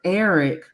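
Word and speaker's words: Erryk: said that because technically their names are pronounced the same um Eric and Eric but it's just it's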